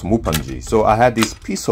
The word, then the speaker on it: Mupanji: a mukbang about fufu so he's uh pronounced mupanji so i had this